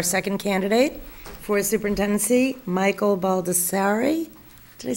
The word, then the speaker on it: Baldassarre: It's Baldassarre, but it Baldassarre. depends on if you're I apologize. from. Depends on where you're from.